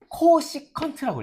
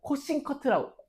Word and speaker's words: 코시컨트: 사인의 역수는 코시컨트라고 읽어요. 코시컨트 세타라 읽습니다. 사인 세타의 역수는 코싱커트라고. 코시컨트라 읽어요. 코싱커트. 혀가 짧아서 그래요. 제가 혀가 진짜 짧거든요.